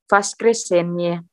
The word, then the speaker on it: воскресенье: Vaskresenye. Ini ada miyakisna. Soft sign, berarti N-nya agak soft. Vaskresen, spasi sedikit, baru Y. Vaskresenye.